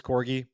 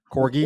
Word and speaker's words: corgi: game three Victory the Corgi which by the way I believe it's Corgi I was corrected so thank you to everyone reached out and told me it's a hard G Corgi wait what did I